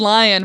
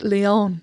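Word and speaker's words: Lyon: thought I knew how to pronounce it, I pronounced wrong the entire episode. What was it? I said lion, but it's Leon.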